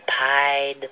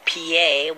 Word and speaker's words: pied: This is the story of the Pied Piper.